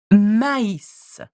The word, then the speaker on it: maïs: But put a tréma on the E, as in the I, and it becomes maïs, maïs.